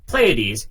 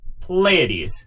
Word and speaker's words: Pleiades: But for anybody who's worrying, for anybody who's not worrying, questioning it, Pleiades, P, Leia, like the Star Wars princess, D's, Pleiades.